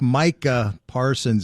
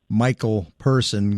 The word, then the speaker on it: Micah Parsons: Like, it's Micah Parsons. It's not Michael Person.